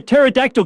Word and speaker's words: pterodactyl: He could roar out, "Why can't you hear a pterodactyl go to the bathroom?" Because the pee is silent, prompting an uproar of laughter and delightful squeals from his entertained crowd.